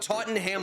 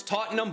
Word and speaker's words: Tottenham: can we leave out Tottenham Hotspur I know it's not how it's pronounced it's Tottenham but since it has the